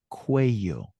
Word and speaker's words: cuello: With a double L. Good. And it's pronounced cuello.